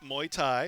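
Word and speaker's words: Muay Thai: children confidence discipline jiu-jitsu kickboxing Scholl and Kempo Wyatt I pronounced muy Thai is what it says I got I was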